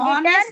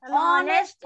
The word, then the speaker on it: honest: Honest नहीं है बेटा. Ma'am, honest. Honest है. H is silent.